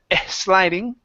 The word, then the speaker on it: sliding: Next one here is instead of sliding, practice that S.